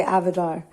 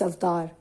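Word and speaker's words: अवतार: became avatar in english now a lot of people say avatar even in india people say avatar but actually it's after so i i personally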